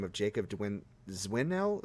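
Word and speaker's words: Dzwinel: name of jacob dwin zwinnel zwinnel that's how i pronounce it i know what you're talking about that's a hard one it's like d-z-w-i-n-e-l he is a father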